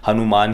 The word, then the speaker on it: हनुमान: कोई विचार नहीं है हनुमान ही इसका उच्चारण है आधे अगर यह फर्स्ट फीचर देखा होगा तो सबसे अंत में हिंदी में उन्हें टाइटल को लिखा है और वहां पर हनुमान ही लिखा है तो अच्छा उच्चारण हम इसका हनुमान ही करना है आ तो इसके